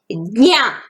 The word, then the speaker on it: ज्ञा: बच्चों, यहाँ पे उच्चारण किस प्रकार करना चाहिए ध्यान से सुनिए। ज्ञा, जा और इंग की आवाज आना चाहिए।